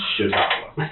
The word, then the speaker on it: Chautauqua: Out in that, maybe you can help me with the pronunciation. Chautauqua? Chautauqua.